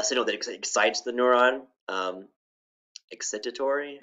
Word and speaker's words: excitatory: Right now I can't pronounce this word. A signal that excites the neuron, excitatory, excitatory.